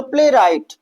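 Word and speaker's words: playwright: ठीक, इसी तरह से यहाँ पे देखिए प्ले राइट। तो आर से पहले क्या आ रहा है भैया, डब्ल्यू आ रहा है, तो डब्ल्यू क्या हो जाएगा, साइलेंट हो जाएगा। तो प्ले राइट।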